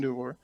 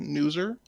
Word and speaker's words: Newser: Newar, or I think I keep mispronouncing his name, Newser, Yeah, and says, kind of like loser, but with an N, I see.